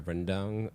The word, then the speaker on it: rendang: I actually made I used Mosaic flour to make the tortillas, but I really did the Malaysian like rendang or the lamb curry.